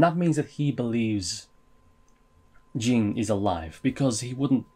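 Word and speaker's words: Ging: that gets me into jin jin king i've been pronouncing his name gang up until now but there was def they were definitely saying je like jin jin a montana shout out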